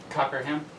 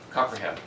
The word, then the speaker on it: Cockerham: Cockerham. Cockerham. 3 syllables.